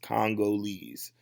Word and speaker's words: Congolese: and so y'all know you pronounce it Congolese Congolese so let's try that one